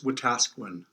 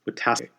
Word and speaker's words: Wetaskiwin: Derryl is from Alberta, I don't want to mispronounce the name of the town, Derryl. It's Wetaskiwin. Wetaskiwin.